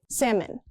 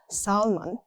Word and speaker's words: salmon: Salmon. The L doesn't exist in speech. Not salmon. It's salmon.